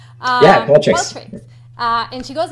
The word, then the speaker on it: Qualtrics: Yeah, Qualtrics.